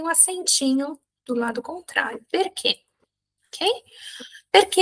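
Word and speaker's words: perché: Próxima pronúncia importantíssima, C-H-E, tem o som de que, tá? Que. Então, o que é que mesmo, tá? Dentro de uma palavra, perquê. Perquê.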